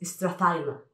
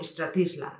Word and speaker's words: Strathisla: Ese whisky que es la base de Chivas Regal, es Strathaila, no Stratisla ni Strathisla, es Strathaila.